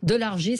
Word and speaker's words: Delargy: James Delargy, ça s'écrit D-E-L-R-G-I. Moi je dirais Guy, mais Delargy.